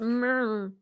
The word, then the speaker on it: Murmrgh: It's pronounced murr. It's pronounced what I sound like in the morning.